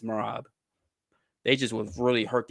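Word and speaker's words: Merab: I just see these guys and obviously Morav Morav's Morab. Do I I don't even have to say his name. We all know Morab who beat these guys. It's Morab.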